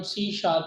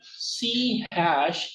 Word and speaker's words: C#: ठीक है, तो हम चैप्टर बाय चैप्टर ये हमें एग्जांपल्स देगा और हम सी शार्प इसके साथ सीखेंगे। आगे चलते हैं। Introduction. सी हैश is pronounced सी शार्प।